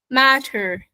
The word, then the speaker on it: matter: So whenever we have the T and it's in the middle of two sounds or two vowel sounds, it should be pronounced as a D sound.